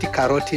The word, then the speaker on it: karoti: Just the way we pronounce is different, but we take straight from there. Carrot, we call it karoti in Swahili.